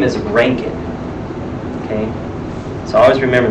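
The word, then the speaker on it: Röntgen: but breaking it's pronounced Rankine it's because it's German so being German the letters are not pronounced like we would think they are so his name is ranking okay so I always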